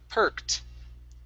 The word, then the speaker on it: perked: This word here is pronounced perked. Perked with the T sound at the end.